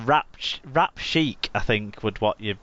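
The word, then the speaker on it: Wrapchic: fast food outlet called Rap Chic, I think would what you'd be pronounced as. WRAP, it's in rap, like a food rap, and then chic, CHIK, it's in whatever that means. Like the band, yeah.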